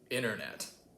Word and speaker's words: internet: about is your goddamn banter all right yep internet that's how i say it and this like